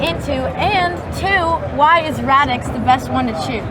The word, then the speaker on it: Radix: So how do you pronounce Radix? Radix? Yeah. Radix.